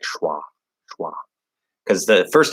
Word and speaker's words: schwa: You spelled that very, very phonetic looking. Shua. Yeah, it's schwa. It's a really weird spelled word. It's actually phonetically, I would write schwa like this. How do I do that? Schwa. There's a couple ways I could transcribe it actually, but it's kind of actually like wah. Like I would do it like this.